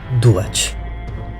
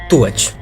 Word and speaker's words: Duat: lugar depois da morte o esperado duat ou tuat eu troquei o d pelo T na verdade esse lugar tem várias pronúncias diferentes que seria o reino